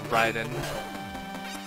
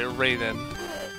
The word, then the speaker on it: Raiden: Okay, Raiden. Sorry, Raiden. Mortal Kombat is the official authority on how to pronounce this guy's name.